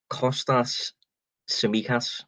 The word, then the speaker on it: Kostas Tsimikas: be even worse but i'm going to go with costas samikas i think is is how you say liverpool signed them for